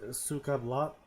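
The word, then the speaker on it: Suka Blyat: It's actually supposed to be pronounced like Suka Blat, Suka bled.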